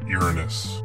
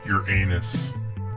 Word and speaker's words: Uranus: This planet is pronounced Uranus. However, most people pronounce it like your anus.